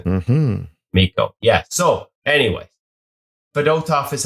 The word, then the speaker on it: Fedotov: So anyways, Fedotov is how you pronounce it.